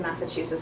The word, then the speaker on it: Massachusetts: is in Massachusetts so the stress is on the third syllable and there's a little bit of stress on the first syllable so they might do